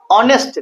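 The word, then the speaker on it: honest: ऑनेस्ट देखने में क्या है? एच है, लेकिन लिखते कैसे हैं? ऑनेस्ट।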